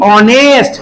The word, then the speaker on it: honest: Honour, যেমন HONOUR, honour, HONEST, অনেস্ট। মনে পড়েছে? এইগুলোর এইচ এর উচ্চারণটা হয় না, তাহলে ভাওয়েলের উচ্চারণ হয় বলে এক্ষেত্রে আমরা অ্যান বসাবো।